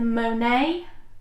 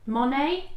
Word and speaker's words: Monet: Hedgehog fibers in the Monae. Monet. Monet. Thank you. Why did I say Monae? Because what you're doing is you're pronouncing it like how people would do in America.